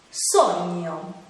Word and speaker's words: sogno: Un altro suono difficile da pronunciare è quello formato dalle lettere G-N, che insieme si legge gn. Qualche esempio? Gnomo, gnocco, sogno.